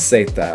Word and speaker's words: zeta: And the way they say it is Zeta. Okay. So, Abe say it's Zeta. I'll make sure I put that right up there. Zeta. Zeta. Not Zeta, but Zeta. Okay. So the letter Z is Zeta, alright?